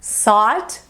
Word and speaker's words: sought: A pronúncia é simplesmente OT para todo mundo.